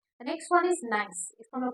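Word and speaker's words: gneiss: हम लोग हमेशा य जिने नाइस ऐसे प्रोनाउंस नहीं करेंगे इसको हमलोग प्रोनाउंस करेंगे नाइस नाइस इ फॉर्म फ्रॉम ग्रेनाइट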